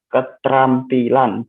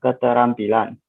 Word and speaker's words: keterampilan: Misal kata keterampilan diucapkan keterampilan, bukan keterampilan.